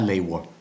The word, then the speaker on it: lever: Jeg lever. Lever. Jeg lever. And this V is a little bit weird here. In Danish, the V sound makes kind of a, sometimes makes almost a U, a W pronunciation.